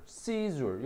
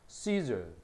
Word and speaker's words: seizure: 발음도 보면 procedure, seizure 여기다가 강세를 딱 줘. seizure, procedure 이렇게 발음합니다.